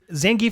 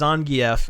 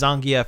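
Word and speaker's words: Zangief: pick Rue yeah did you know that zang's zangie is actually pronounced Zang really yeah I didn't know that apparently it is actually pronounced ZF and they pronounce it that way in Street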